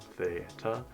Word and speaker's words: theta: Again, it's pronounced theta, is a variable we usually use when we do not know that angle.